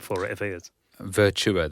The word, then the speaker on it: Virtua: Virtua, that's how you say it. I'll get told off for saying What are you saying, virtual?